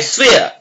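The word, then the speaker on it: swear: आई स्वेयर, आई स्वेयर। आर यहां पर silent है, आर का पूरा उच्चारण नहीं होगा।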